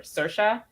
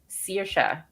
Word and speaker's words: Saoirse: There's 2 ways to pronounce it. One like or Saoirse, and I pronounce it Saoirse, like searing meat or something.